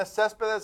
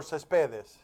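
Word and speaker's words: Céspedes: Uh mildly interested Yenna Cespz. How do we pronounce his name? Bobby Cesp or Cespedes. Cespedes. All right.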